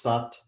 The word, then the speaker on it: Sat: half to be comfortable south korea we're chanting sat nam s-u-t it's at but it's pronounced sat s-u-t nam chanting my truth is my identity